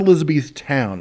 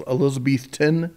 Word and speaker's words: Elizabethton: another smaller town called Elizabethton. I think that's how they pronounce it. It's not Elizabethtown. It's Elizabethton, Tennessee.